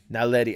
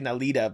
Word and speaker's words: NALEDI: I gotta remember to pronounce that right. It's NALEDI, yes. NALEDI. I don't know why I want to say NALEDA, but that's not it.